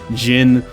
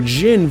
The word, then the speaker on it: djinn: Your stats, items, equipment, Jin, which is how I'll be pronouncing it for this video, either with a link